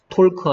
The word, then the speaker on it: talk: Walk 아니고 walk, talk 아니고 talk. 그래서 L이 소리 안 나는 경우들이 있다.